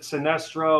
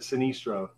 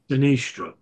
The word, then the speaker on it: Sinistro: all the time and then we've had people pronounce it Sinestro or Sinestro um but it we pronounce it sinistro sinistro okay so taking us taking the taking the